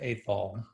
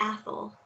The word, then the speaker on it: Athol: little bit about um porter's uh first wife ethel if i did i pronounce her name right first of all well it's um it's actually athol yes which is a scottish scottish name um